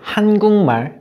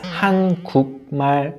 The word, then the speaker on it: 한국말: And I've heard this word being pronounced as 한국말 a lot. When spoken as one word at once, it should be pronounced like 한국말.